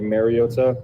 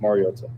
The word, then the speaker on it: Mariota: Um, I think it's been said over the years like Mariota. Um, which is incorrect and it's pronounced Mariota.